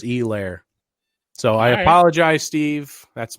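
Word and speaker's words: Helaire: it wrong but yeah it's apparently a hard e clyde edwards e lair so i apologize steve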